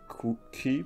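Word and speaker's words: quay: So these are all key pieces. I find this a weird word, but I think it's pronounced K or key. It's pronounced key, I think.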